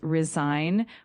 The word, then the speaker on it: resign: Make sure you pronounce it as resign with the emphasis on the second syllable.